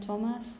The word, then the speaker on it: Thomas: rosemary and thyme okay but until Esther Theresa Thomas and the tents okay okay different possibilities now